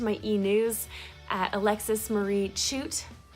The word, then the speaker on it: Chute: And also subscribe to my e-news at Alexis Marie Chute, Chute spelled C-H-U-T-E, pronounced chute like chocolate, .com.